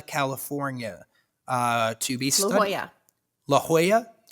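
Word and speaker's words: La Jolla: uh to be laa La Hoya La Hoya why don't they why don't they spell it like that uh I only know that because my dad lived there oh but why don't they spell it like that why is it j o l l a i guess it's probably Southern California so it's probably heavily influenced by espanol which makes a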